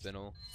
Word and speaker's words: spinel: But it is spinal, what are you so. Buying? Next time someone asks you, or, you know, if you come across it, it's pronounced spinel.